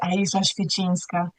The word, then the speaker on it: Ayishah Świecińska: Just to give you guys a challenge in how to pronounce it. So I'm going to say it as it is, Ayishah Świecińska.